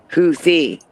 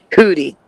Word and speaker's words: Houthi: While pronounced similarly to huti in English, the spelling includes a th to reflect the Arabic pronunciation houthi. So they're saying it's Americans who are saying hooty.